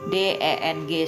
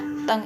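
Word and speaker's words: 等: Nah, teng ini artinya dl ya. Nah, cara bacanya d E n g bukan deng bacanya ya, tapi teng begitu.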